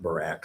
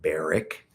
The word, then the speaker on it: Barak: And I've always pronounced that Barak. Some people pronounce it Barak, but I've always said Barak.